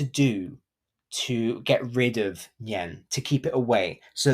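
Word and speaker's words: 年: the story of the nien now nien is also the Mandarin word for New Year n-i-a-n in pinyan that's how you spell that and it's pronounced yen and Yen was a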